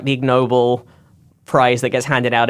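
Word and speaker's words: Ig Nobel: he doesn't like the ignoble prize that gets handed out every year oh is that spelled like ignoble sore yeah exactly yeah it's like a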